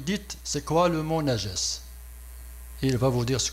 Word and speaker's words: najas: pour signaler ce mot-là, najas. Parce que ce mot najas, le voici, ça se prononce najas, N-A-J-A-S, et ça a été traduit par impureté.